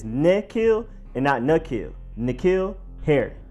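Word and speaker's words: N'Keal: while receiver Nikhil Harry it is a nick not a nut doesn't really matter that much unless you have pronunciation police where you are because it's really too small of a difference to notice unless you're really trying to notice but is Nikhil and now Nakia Nakia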